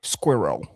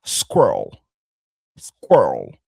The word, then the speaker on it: squirrel: Il y a deux syllabes ici. En anglais British, en anglais britannique, c'est squirrel. OK, on a squel, ça c'est l'anglais britannique, mais en anglais américain, ça sera squir squirrel.